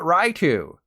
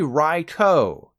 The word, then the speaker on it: Raikou: This is not Raikou. It's not Raikou either. It's officially Raikou.